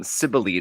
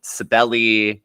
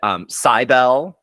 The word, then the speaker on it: Cybele: And speaking of things that are, questionably pronounced, I'm actually talking about Cybele today. Maybe sometimes Cybele. One person said Cybele. I don't like that one. No, I'm gonna nix that one. We're nixing right Cybele.